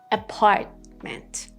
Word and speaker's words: apartment: Apartment, apartment.